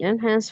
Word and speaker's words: enhance: ways classical music may enhance focus while people uh while pop or rock can lift separates yeah the only thing I would say is the word enhance uh the emphasis on the second syllable Enhance.